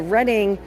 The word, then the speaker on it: Reading: Railroad on the Monopoly board cuz everybody always pronounces it wrong. But it is the Reading uh again Reading, Pennsylvania where these guys are based out of.